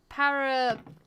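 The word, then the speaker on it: pareidolia: Paradolia. Have I said that right? Yep, that sounds about Is right. that how you pronounce it?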